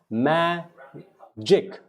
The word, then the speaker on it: magic: Now this G, just because you see G, does not mean it is G. This becomes magic, magic, magic.